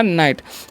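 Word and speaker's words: night: नाई है ना और जी एच का यहां पर जो है साइलेंट रहता है ठीक है तो इसका उच्चारण नहीं करना है टी से तो हो गया नाइट तो इस प्रकार से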